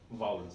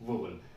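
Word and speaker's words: vowel: इसे प्रोनाउंस क्या करते हैं? वाउल, नॉट वोवल। अभी तक जो हमने इसे कैसे कैसे बोलते थे? वोवल बोलते थे, लेकिन इसे बोलते क्या है? वाउल बोलते हैं।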